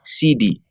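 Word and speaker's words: cedi: of currency in Ghana is a city pronounced CD there are 100 persuas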